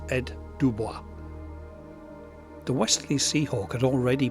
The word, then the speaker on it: Ed Dubois: round vid last time, I absolutely murdered my attempts at trying to pronounce the designer's name. So my apologies for that, and I've been quite rightly corrected. So I'm going to try again. It's Ed Dubois.